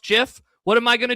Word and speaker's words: GIF: The creator of GIF, Kaleb, said that it is pronounced GIF.